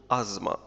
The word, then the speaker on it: asthma: Was declared brain dead بعد نوبة ربو حادة acute asthma الربو مرض التنفس ولا تنطق th نقول asthma attack نوبة asthma attack نوبة